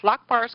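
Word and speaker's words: Larma: LMA l L larar like the Lark and then ma lar Mar's guidance On Healing The Human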